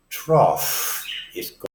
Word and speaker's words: trough: the EF soundness as in both those have trough more I believe I'd arrow for your horse